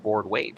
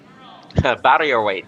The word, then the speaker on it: barrier weight: Oh, you said it wrong, Jason. It's barrier. Barrier weight. Yes.